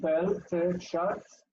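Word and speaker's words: בלטשאצר: the quiescent aleph really has zero value there. It's really just sitting there for no reason. So shuts. Much. So we've got bell, te, shuts, so 4 syllables.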